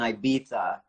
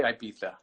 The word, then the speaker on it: Ibiza: The Spanish say Ibiza. They throw the th in there. Yeah. The British say Ibiza. The Germans say Ibiza. The Italians say Ibiza. In Catalan, it's Ibiza.